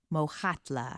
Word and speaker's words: Mokgatla: Is it Mokgatla? Mokgatla.